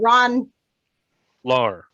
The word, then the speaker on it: Ron Lar: name is ron lauren he wants me to call him ron lar rhymes with car of which i have